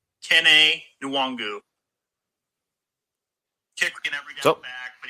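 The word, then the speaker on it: Kene Nwangwu: Hey, boys, let me help you out on a little pronunciation of the Iowa State player. His name is Kene Nwangu. Kene Nwangu.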